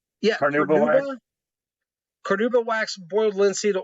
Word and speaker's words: carnauba: I can't pronounce it. Say it again, Chris. Carnauba. Yeah, Carnauba wax.